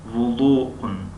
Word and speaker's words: وضوء: در زبان تاجیکی وضوء هم میگویند. وضوء از همین کلمه گرفته شده است، فقط ضاد را ز تلفظ میکنند. وضوء یعنی چگونه در زبان فارسی هم ضاد نمیگویند و ضا میگویند. ضا، ضا.